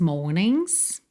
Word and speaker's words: mornings: Or one of these mornings. E esse G de morning também não é pronunciado. Você vai do N direto pro S.